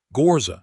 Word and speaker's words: Ghorza: She simply said her own name again, the way it was meant to sound, with the first syllable opened up and low and rolling at the back of the throat, and the second syllable settling down instead of rising, like a hand gently placed on a table.